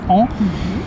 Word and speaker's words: en: El primero es en, entonces cuidado con la pronunciación, es el sonido de la A nasal, entonces en.